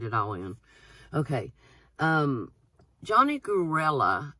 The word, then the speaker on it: Gruelle: all in okay Johnny karela and I think that's how you pronounce his name it's spelled G ru